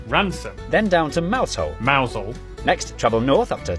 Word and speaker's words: Mousehole: Starting in Beaulieu, Beauly, head over to Rampisham, Ransom, then down to Mousehole, Mousel, next travel north up to Towcester, Toaster, then